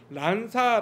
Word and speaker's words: 난사: 이화학당 이 합격을 했고 낸 c 한국 발음으로는 난사 라는 이름으로 세례를 받았답니다 그래서